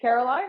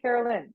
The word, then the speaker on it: Caroline: so i don't know is it caroline or carolyn honestly i don't care caroline oh all right and it doesn't matter to you so there is no doesn't matter i mean technically i think if we pronounce it the way it's written it would be caroline like it's a line yeah okay but you